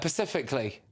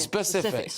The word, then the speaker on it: specific: What about people who go pacifically? Oh, I'm being really specific about this. As if it's about the ocean. It's specific. Yeah.